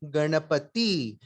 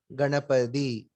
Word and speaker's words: Ganapati: So we say Ganapati. We don't say Ganapadi.